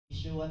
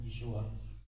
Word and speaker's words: Yeshua: Yeshua talaga ang pag-pronounce ng name ni Joshua when during the Hebrew time, Yeshua.